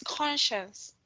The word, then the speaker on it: conscience: It's okay. It's conscience. Conscience. Yes. Okay. Conscience. I will make sure that uh I will pronounce it in the like your conscience. Your inner voice.